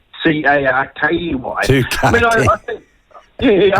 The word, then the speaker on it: Tukaki: My last name is spelled Tukaki. Yeah. But actually, I've had this dream for a long time to buy some sort of road somewhere and call it Tukaki, but spell it Twocarkey.